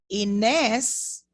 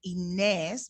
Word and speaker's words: Inés: Inés, notice I said Inés because I'm using this pronunciation that we spoke about. I said Inés because the accent tells me to make a long sound for this name, Inés.